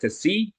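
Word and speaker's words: ξ: So this is pronounced Kc, and this is pronounced eta.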